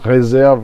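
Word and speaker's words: réserve: one of their releases they said res with the accent on the a no it's Reserve with the accent on the first e so it's reserve and not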